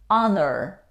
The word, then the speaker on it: honor: we pronounce enough cough there are some words which begin with the letter h for example these words how do you pronounce them honest honorable power no we don't pronounce h in these words age isn't pronounced we say honor honesty or honest our honest means a